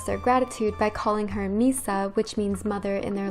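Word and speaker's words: Mhysa: at number 18 i have the name misa spelled m-h-y-s-a and this is what the freed slave population of yunkai calls deniers when she frees them and they express their gratitude by calling her misa which means mother in their language the next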